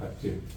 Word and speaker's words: Aché: Después y también se le dice a, pero el nombre correcto es Aché. Si se pronuncia la palabra, algunos pronuncian mal.